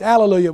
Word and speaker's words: hallelujah: and the Breton it's Alleluia well that's the Greek of the Hebrew word hallelujah the H is silent so when the Greek translated it dropped that The Silent Age but